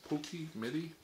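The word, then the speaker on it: Pocky Midi: about she told me how to say this Pokey midi oh look at that they're all individually wrapped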